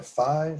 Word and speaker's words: phi: that symbol there is a greek letter fee or phi some people pronounce it i can pop